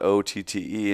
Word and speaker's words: OTTE: And if you see the word spelt out, OTTE, and you wonder how to pronounce it, it rhymes with naughty.